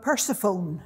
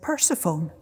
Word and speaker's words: Persephone: we were learning about persephone today and mother said what and i said persephone she said you mean persephone the teacher had told us we pronounced that word persephone they then followed an